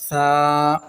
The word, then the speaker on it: ثا: بھی نوٹ کر لیں۔ عربی لہجے سے مراد ہے مثلا با، تا، ثا، یہ عربی لہجہ ہے، اس انداز سے قرآن پاک کو، پورے مدنی قاعدے کو بھی اس انداز سے پڑھا جائے گا۔ بے، تے، سے، ہے، یہ اردو تلفظ ہے، یہ اردو طریقہ کار کے ساتھ پڑھا جائے گا تو یہ غلط طریقہ ہو جائے گا، اس طرح بالکل نہیں